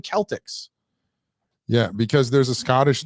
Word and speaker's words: Celtics: Why in every other form of vernacular is Celtic the preferred pronunciation except the for the NBA. basketball thing? Why are we That's Boston. why yeah, but why are we capitulating to this retardation? It should be the Boston Celtics.